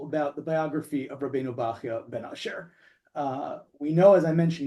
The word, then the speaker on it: Bachya ben Asher: the fascinating Bible Torah commentators, Rabbeinu, and we'll pronounce it this way, Rabbeinu Bachya ben Asher.